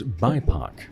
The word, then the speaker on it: BIPOC: And another program that you have that's just kind of in the footholds at this point is BIPOC. Did I pronounce it correctly?